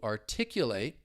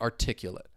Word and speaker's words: articulate: stressing the second syllable the difference between the two the verb and the adjective is that final and fourth syllable so with the verb you have that long a sound to articulate whereas with the the adjective now we have that I articulate articulate to articulate